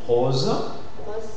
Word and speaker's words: rose: S'il y a le son Z qui suit, le O se prononcera fermé. Exemple, rose, rose, dosé, roseau.